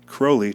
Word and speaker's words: Crowley: to make himself Antichrist he styled his name Crowley to rhyme with holy and now this lady